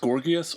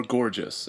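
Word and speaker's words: Gorgias: this guy right here whose name can be pronounced gorgus or gorgeous and guess which one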